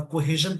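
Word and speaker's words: cohesion: देखिए, कोहेजन का जो इसमें ना, देखिए वर्ड ब्रेकिंग और सिलेबल एक चीज होती है जिसको बोलते हैं को।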